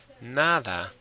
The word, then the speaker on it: nada: Nada, where's the stress? Nada or nada. Well, of course it's nada. So yes, like I said, if it ends in a vowel, it's on the next to last syllable.